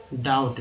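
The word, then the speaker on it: doubt: संदेह, डाउट, बी जो है यहाँ पर साइलेंट है, याद रखिएगा साइलेंट है। तो डी ओ यू बी टी तो खैर पढ़ेंगे डाउट, डाउट नहीं डाउट।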